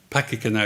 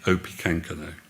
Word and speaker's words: Opechancanough: underline at this moment the english called him opi kankano in other words this isn't pakika now is not an advisor he's actually opi kankano this is what i